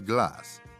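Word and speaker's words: glace: are known as hooks take the french word for ice cream which is glass it's pronounced almost identical to the english word glass and visually shares some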